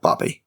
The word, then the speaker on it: Barvey: And the Vulcan's name is Barvey, but they say it like Barbie, another name that just sounds like a contemporary name.